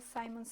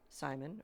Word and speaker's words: Simon: And we will talk about your son, Simon, or Simon? We call him Simon. In Simon. Spanish, it's Simon. Yes.